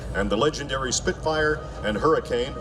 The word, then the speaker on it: Hurricane: the legendary Spitfire and Hurricane or Hurricane, as it's pronounced by those who flew them, in which the Allies went on to turn the tide of the war.